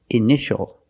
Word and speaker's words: initial: And this word, initial or initials, more than one. We see T-I-A together, so the T is pronounced sh, sh. Initial.